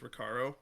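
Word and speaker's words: Recaro: I honestly I flip-flop I'm pretty sure the proper pronunciation is ricaro I do say ricaro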